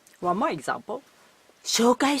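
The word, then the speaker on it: 紹介: 紹介 4 syllable. しようかい 5 syllable. Z. If I said it fast, I think it's hard to notice the difference. So please pay close attention to the differences.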